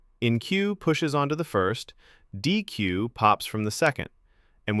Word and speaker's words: deque: Double-ended queue, pronounced deque, push and pop at the front and the back, all order 1.